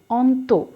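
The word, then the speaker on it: অন্ত্য: না ক্ষমতাও বাড়ে না যেমন এখানে অন্ত আছে সঠিক উচ্চারণ অন্ত এটি এর নিয়মে হয়েছে জফালা এখানে কিছুই করেনি তারপরে দারিদ্র এই দয়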